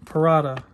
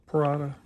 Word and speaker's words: Parata: The Parata. Parata. VG10 blade.